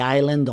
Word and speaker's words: island: A frightening psycho caught a flight to the island on Wednesday. GH in frightening. Psycho. The P is silent. The GH in caught. The gh in flight. The S in island.